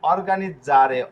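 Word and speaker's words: organizzare: এই যে দেখুন অর্গানিক জারে অর্গানিক জারে ঠিক আছে এই যে ডবল জেড যদিও রয়েছে ডবল জেড উচ্চারণ স এর মত হয়। কিন্তু এখানে দেখুন অর্গানিক জারে এখানে ইসারে রয়েছে। যেহেতু ইসারে রয়েছে এটা জ এর উচ্চারণ করবে অর্গানিক জারে।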